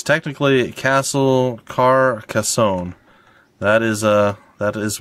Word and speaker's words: Carcassonne: meet Thomas yes alright so it's technically Castle Carcassonne that is a that is what I have been told that is how I pronounce it because they didn't like when I